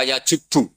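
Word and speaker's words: يَجُبُّ: Itu bacanya bukan yajibu tapi apa?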